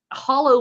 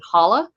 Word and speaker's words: holler: And hollow most likely is the correct pronunciation, but especially the Scotch Irish were very strong in adding either an R or an A. So like your guy in Alabama calling it a holla, that's appropriate as well as holler.